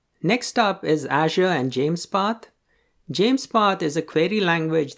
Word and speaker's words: JMESPath: written as jmes but it's pronounced as james path as in king james james path has similarities